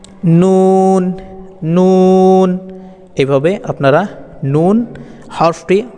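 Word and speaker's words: ن: টান দিয়ে পড়বেন এগুলোকে নুনের ক্ষেত্রে জিহ্বার আগা ওপরে দাঁতের মাড়ির গোড়া থেকে একটু উপরে নুন নুন এভাবে আপনারা নুন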